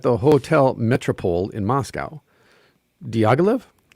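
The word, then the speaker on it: Diaghilev: hotel metropole in moscow diagolive is that he pronounced it diagolav yep has recently curated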